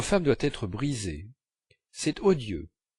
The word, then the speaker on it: odieux: doit être brisée c'est odieux à la maison j'avais toujours entendu dans odieu prononcer l'eau long odieu mais Monsieur et Madame Swann disait odieu en faisant l'eau bref pensez depuis 2hes de